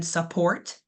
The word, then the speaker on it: support: So, our stress syllable and support that is going to be the last port. We kind of skip over the beginning. Support. Support. Support. We really overannunciate that last ending word.